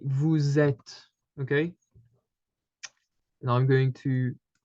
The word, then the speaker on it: vous êtes: Because the letter S in French is is mostly pronounced as a Z at the end of words or when it's followed by something, okay?